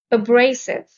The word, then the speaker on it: abrasive: are terminate break off abrasive the stress is on the second syllable abrasive means rough causing